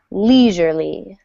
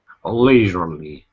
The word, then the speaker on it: leisurely: stress on this word dress falls on the first syllable leisurely leisurely yeah leisurely yes I'll